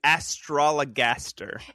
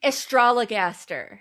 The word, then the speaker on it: Astrologaster: Is it Astrologagaster? Astrologaster. Yes. I I'm like skipping something.